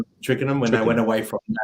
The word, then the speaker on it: Twickenham: when they went away from Tickenham, is it how you pronounce it? Twickenham.